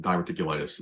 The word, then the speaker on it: diverticulitis: Wow, without because there's also there's no timetable for his comeback with diverticulitis. That's how you pronounce it.